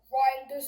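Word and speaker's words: Reijnders: I know they've got uh Ryers in. Is that how you pronounce it? Yes, he got riders in.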